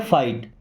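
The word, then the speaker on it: fight: या नहीं फाइट देखिए मैंने क्या बोला था कि टी के पहले जी एच आ गया तो साइलेंट यहां भी टी के पहले जी एच आ गया तो क्या पढ़ते हैं फाइट फाइट का मतलब लड़ना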